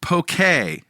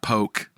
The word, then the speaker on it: poke: Yeah, it's a Hawaiian word, poke.